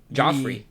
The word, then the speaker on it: Joffrey: So how do you spell that name? J O F F R E Y. So, it's literally Jeffrey without Joffrey.